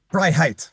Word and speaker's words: Freiheit: please bear with me it's both words fry and height fright fry Heights right like the two